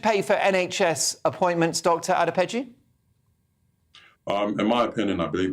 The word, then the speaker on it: Adepeju: I hope I pronounced your surname correctly, Dr. Adepeju.